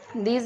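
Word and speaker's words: these: दीज, दीज में भी last ई silent है।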